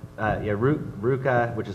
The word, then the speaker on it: RVCA: i ask is it is it ruka is that how you say it okay yeah like almond roca yeah i like almond roca uh yeah ruka which is spelled rvca